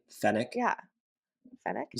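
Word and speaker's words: fennec: oh my God they're so I think it's pronounced fck what did I say finic F fenic isn't it f n NE c fenic yeah fck you said fck I do not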